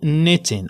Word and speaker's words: knitting: وكا examples كيف ما كتشوفوا عندكم ولا عندنا قدامنا morning، اوكي morning، ولا for example knitting، اوكي knitting، هذيك ال kn كتنطق ن، اوكي knitting، وحتى ال ng نقولوا knitting.